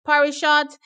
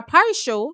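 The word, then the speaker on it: Parisot: from France Helen um Parish Shot Lane six or par show sorry you don't pronounce the T um she's there from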